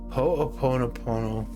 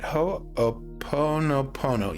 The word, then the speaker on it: Ho'oponopono: As I got back into my body, I was impressed to pray Ho'oponopono.